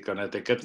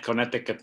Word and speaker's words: Connecticut: Jadi Connecticut mah bacanya Connecticut gitu.